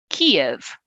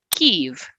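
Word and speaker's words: Kyiv: it something close to if you can't handle that vowel which i'm probably not even getting right it's okay to call it kiev or even kiev it's going to be closer to the ukrainian pronunciation so let people talk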